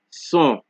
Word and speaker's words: son: So S at the beginning of a word is pronounced like a regular S. So, example, so, son, singe, so, son, singe, so, son, singe.